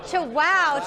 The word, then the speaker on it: Chihuahua: So we are here with Sergio Alvarez of Chihuahua Chocolates. Did I say it right? That's right. You chew and you say wow. Chihuahua Chocolates.